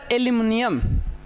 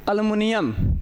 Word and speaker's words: एल्यूमिनियम: थोड़ा यहाँ उच्चारण में अलग अलग, घरेलू भाषा में तो हम लोग एल्युमिनियम या पता ना क्या क्या कहते हैं, लेकिन पढ़ाई में हम लोग क्या बोलेंगे इसको, एल्यूमिनियम। एल्यूमिनियम का संकेत क्या होता है, Al।